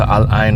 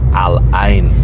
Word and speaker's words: Al Ain: We're actually on our way down to Alin right now. Um, we're going to tell a little bit of our Alain. Oh, it's actually pronounced as Aline.